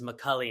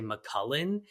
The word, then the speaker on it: McCulley: So I've heard, like, my last name is McCulley, and I've heard people say McCullen. And I think what happens is that people almost just want to pronounce it the way they want to pronounce it add in letters. Because the way you just mispronounced it was like adding in a K when you didn't really need one.